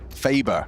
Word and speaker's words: Faber: Faber. Faber. Yeah, like Saber. Like a saber.